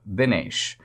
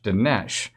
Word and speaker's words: Dinesh: a dinesh and the second part of my name is said more like binesh not so much dinesh and i'm like well